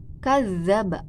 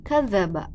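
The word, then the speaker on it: كذّب: Nah, yang seharusnya kadzaba. Nah, sudah jelas ya, ada tasydid gitu di huruf za. Nah, misalkan rekan-rekan tidak ditasydidkan misalkan ya, jadi dibacanya kadzaba.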